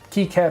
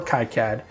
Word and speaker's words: KiCad: open- source uh Community I don't think anybody will ever agree the correct way to say it so I try really hard to um to say to say kead or Kad and in fact if